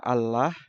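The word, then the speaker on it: الله: di dalam bahasa Arab ada satu kata yang penulisannya berbeda dengan cara pengucapannya pronounciation apa itu Allah ditulis dengan alif lam lam ha biasanya dibaca Allah tapi umat Islam di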